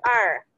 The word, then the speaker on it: 二: itu kita belajar tuh Bacanya adalah er nah gitu rajanya tulisannya